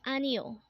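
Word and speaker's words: 아니요: Next word is anio. Again, this is pronounced as anio, and this is a polite way of saying no in Korean.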